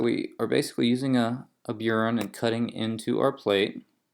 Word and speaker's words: burin: And so with an engraving here, you're using a burin, which is spelled B-U-R-I-N, burin.